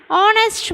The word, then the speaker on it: honest: at the word and honest man hear the word hornist stored with the consonant letter H but here H is silent so we have to use an before it look at the second